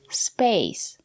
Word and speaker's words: space: Here we have the letter A and the silent E. We pronounce the letter A as the long A, like in lake and make. Space.